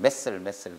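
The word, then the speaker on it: mast cell: 마스트셀. 그러니까 이거 외국 애들이 발음하면 메셀 그러는데 맛살도 아니고 맛살로 기억하세요.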